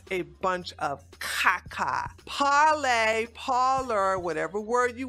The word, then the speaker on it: Parler: and now I'm here to warn you about parlez first of all let's talk about the name